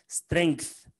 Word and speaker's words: strength: القوة بقى اسمها strength, وهنا بننطق الجي بتتنطق strength, والضعف اسمه weakness.